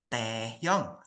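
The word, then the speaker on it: Taehyung: teh Teh gitu ya Nah bukan teh tehyung ya dia bacanya bukan tehyung yaun walau ini tulisannya tehyung Siapa yang di sini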